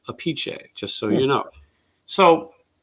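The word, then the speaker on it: Appice: vinnie apec's brother but he pronounces his name different his father pronounces it apiche just so you know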